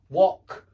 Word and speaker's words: wok: But this is a short o sound, o, like in hot, top, wok. Yeah, it's o.